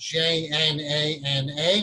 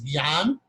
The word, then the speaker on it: jnana: or in the West, J-N-A-N-A, which is such a wrong way to spell it or pronounce it. It's not jnana. In Sanskrit, it's gyan.